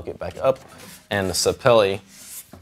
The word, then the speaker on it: sapele: you guys and actually found out how to say it sapele i was calling it staple for for years it's the kind of wood the back and sides are made of it's laminated but it's sapele like belly and basically